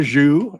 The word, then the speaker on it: Xu: with the parel now here's another zuu it but it's spelled XU and from a different